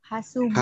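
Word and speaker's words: حاسوب: Hasubun. Hasubun. Pakai sin, bukan pakai sya.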